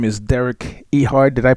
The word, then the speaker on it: Derek Ehard: introduce Our Guest this morning his name is Derek ehard did I pronounce it right sir yes you did yeah